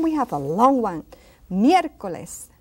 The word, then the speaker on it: miércoles: And then we have a long one, miércoles. Miércoles, that E is accented, so it's miércoles.